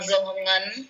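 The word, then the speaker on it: Dương Hồng Ngân: I'm Zohongan.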